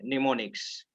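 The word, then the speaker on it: mnemonics: मैं यहाँ पर लिख देता हूं, ठीक है, निमोनिक्स। ये एम साइलेंट रहता है, ठीक है।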